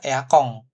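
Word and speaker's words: エアコン: Nah, kalau diakhiri N, gitu kan, ini sebenarnya kan tulisannya cuma gini ya, Eakon aja ya, seperti itu. Katakanlah Eakong gitu ya. Tapi cara bacanya dia adalah Eakong. Kayak ada bunyi eng kita kalau di Indonesia.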